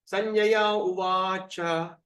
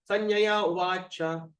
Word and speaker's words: Sanjaya Uvacha: Sanjaya Uvacha. Imagine the A, there's a dash on top, so we pull the raga. Sanjaya Uvacha.